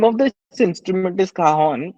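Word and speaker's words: cajón: of this instrument is kahon it's a Spanish word and the way you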